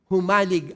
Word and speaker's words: Humalig: Mas mabilis daw po ang bigkas. Humalig Island.